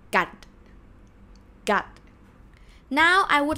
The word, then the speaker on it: กัด: So กอไก่ g sound. สระอะ and ending consonant is ดอเด็ก or d sound. That's why this word is pronounced gut.